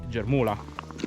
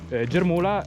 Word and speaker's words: Germùla: definire tale mentre invece nel Carnico locale si dice Creta di germol germol è una parola che deriva da germogliare sempre in friulano Quindi da questo si ha queste due pronunce diverse Invece per quanto riguarda